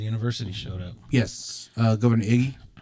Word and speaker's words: Ige: the president of the university showed up, yes, Governor Iggy. right? Is that how you Ige? say his name? I think it's Ige.